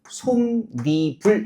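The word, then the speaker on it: 솜이불: 그러면 뒷말의 첫 소리에 지금 발음해 보니까 어떻게 발음해요? 솜니불 해 가지고요. 어떤 소리가 덧붙었나요? 니은 소리가 덧나고 있습니다.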